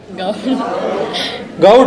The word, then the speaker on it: Gaur: Gaud. Okay. Gaur is Haryana. Gaud is here. Small difference. R is silent somewhere, right?